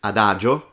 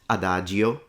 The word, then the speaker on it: adagio: Another example is adagio, not adagio.